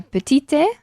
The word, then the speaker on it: petite: Añadir una E, o sea, petite, Ajá. y pronunciamos la T final.